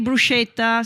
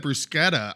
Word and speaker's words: bruschetta: No, because CH, which is bruschetta, it's a hard sound. Yes. If someone said bruschetta, I would have said they were uncultured. Like, you know what I mean? Here I am. I'm the one that's been saying it wrong.